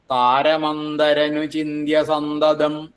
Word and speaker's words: താരമന്തരനുചിന്ത്യ സന്തതം: താരമന്തരനുചിന്ത്യ സന്തതം താരമന്തരനുചി ചിന്ത്യസംതം അപ്പോ നമ്മൾ ചെല്ലുന്ന സമയത്ത് ചിലപ്പോ താരമന്തരനു ചിന്ത്യ സന്തതം ആയിപ്പോകും ചൊല്ലിയത് ശരിയാന്ന് ചിലപ്പോൾ തോന്നും പക്ഷെ ഞാൻ ചൊല്ലിയ തെറ്റാണ് കാരണം ആ ഖരമായിട്ട് ശരിക്കും ഉച്ചരിച്ചില്ല ഞാൻ അതുകൊണ്ടുതന്നെ അങ്ങനെ തന്നെ ശ്രദ്ധിക്കണം താരമന്തരനുചിന്ത്യസന്തതംതം